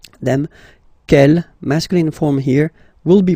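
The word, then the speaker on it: quel: good news is that you will pronounce them the same way all right so G Kell Kell and Kell okay remember that in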